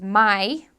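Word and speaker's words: mae: Their word for dude is mai. They spell it M-A-E. ¿Qué tal, mai?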